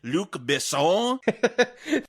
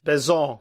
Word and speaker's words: Besson: how to say it, Luc Besson. Kind of just slur at the end of it to make it sound French. I think Americans call him Luc Besson. Yes. Besson.